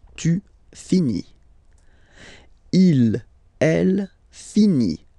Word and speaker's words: finit: Il, elle finit. So, I-T. Final T, not pronounced.